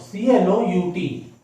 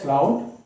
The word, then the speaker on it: clout: In India it is pronounced as clout. In UK we pronounce it as clout. And in the USA this L is silent, and in USA we pronounce it as cout.